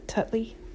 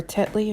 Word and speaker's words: Tetley: tea there with the tutley or tetley or whatever you want to call i used to call it tutley but you know i